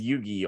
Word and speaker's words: Yugi: let me make sure I got his name pronunciation right there um let's see all right so you got Yu-Gi-Oh it says Yugi on the the character name but I've never